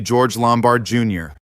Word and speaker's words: George Lombard Jr.: That would be George Lombard Jr. and yes, that is the correct pronunciation.